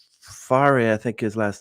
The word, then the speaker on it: Fahre: So but we say just Fahre. Fahre? Fahre, yeah.